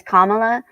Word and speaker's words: Kamala: don't do it um her name is comma practice it a couple times if it feels weird